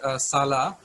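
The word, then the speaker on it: Sulla: s-u-l-a there was a roman general which is pronounced salah s-u-l-a so he destroyed plato's academy in 86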